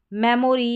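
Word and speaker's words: memory: फिर है मेमोरी या मेमरी, मेमोरी या मेमरी, दोनों तरीके से आप प्रोनाउंस कर सकते हैं।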